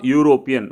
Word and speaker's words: European: invented this machine the correct answer is a european whenever you pronounce this word u so that is uh